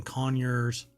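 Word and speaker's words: Conyers: and spa water uh care products located in conures that's how they pronounce it um Georgia has led to an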